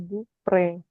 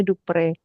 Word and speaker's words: Dupré: mur itu mesur Eh dupre dupre ada e-nya ya itu ada aksong e ke sana itu bacanya dupre kalau enggak ada dia jadi Dup gitu aja ee jadi penggunaan